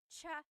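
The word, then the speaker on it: tsaa: Almost polyglot said it's like the word cha. Cha in Tagalog is t like the tea that you drink and it's spelled ts aa. Cha. Cha. That's such a Tagalog spelling. I love it. There's the ts sound and then the double vowel uh pronunciation.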